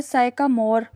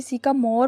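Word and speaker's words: sycamore: तो आगे साइकामोर लफ्ज़ इसका जो है लफ्ज़ जो है साइकामोर है। साइकामोर प्रोनाउंसिएशन इसकी सिकामोर पढ़ेंगे।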